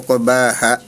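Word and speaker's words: عقباها: Ini mengenai mad ari sukun juga kurang panjang ya. Tadi di surah As-Syam ayat 10 terakhir yaitu wala yakhafu uqbaha. Nah gitu bacanya. Ha harusnya uqbaha e minimal dua harakat ya.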